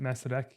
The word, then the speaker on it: Masaryk: Is it that how you pronounce it? Masaryk University. Masaryk Uh, University. Yeah. There you go. Got it right.